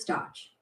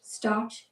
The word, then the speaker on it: Stotch: Butters Stotch. Pronounced Stotch, not Stotch.